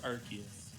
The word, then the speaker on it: Arceus: uses rayquaza and archaeas yeah how do you pronounce arceus i don't know that one it's it's it's it's arceus i see this i say arceus i'm lazy